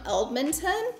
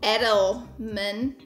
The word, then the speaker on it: Edelman: little pricey but they're sam edmonton i'm saying the last name wrong edelman edelman sam edelman sam edelman